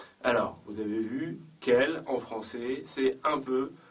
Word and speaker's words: quel: pluriel il faut utiliser quel Q u e l l e s donc à chaque fois la prononciation est la même quel masculin singulier quel féminin singulier quel masculin pluriel et quel féminin pluriel la première quel âge